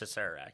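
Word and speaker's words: Acererak: I've heard it pronounce I've always heard I always say a serak it's a serak yeah um so he's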